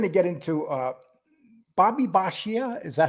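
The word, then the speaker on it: Bisaccia: now we're going to get into uh Bobby bashia is that how you say his name yes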